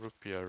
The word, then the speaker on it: rupiah: I think it's called rupiah, right? Yeah, rupiah. That's how you pronounce it.